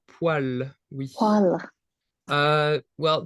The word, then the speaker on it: poêle: Well, the spelling is very, very special. Poil is kind of this word that has a specific spelling, and it just doesn't look like anything like how it's pronounced. Poil. It's the same pronunciation as this this other word in French, which is poil.